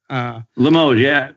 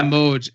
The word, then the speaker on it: Limoges: Evan Barrett and Alex, I hope I say it right, Limoges. Limoges, yeah. Limoges.